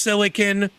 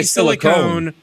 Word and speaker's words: silicon: this stuff that you're, it's properly pronounced silicon. People that say silicone are fucking dumbasses.